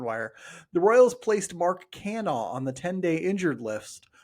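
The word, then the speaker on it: Canha: It's just Cana. It's Mark Cana.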